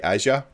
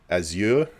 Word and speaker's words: Azure: I also say Azure, not Azure, because I say it all the time, and it's quicker. That's the only reason. I say it like the Americans say it.